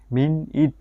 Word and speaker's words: minute: এখানে প্রথম সিলেবলটির উচ্চারণ হবে মিন, দ্বিতীয় সিলেবলটির উচ্চারণ হবে মিন ইট, এর সঠিক উচ্চারণ হবে মিন ইট।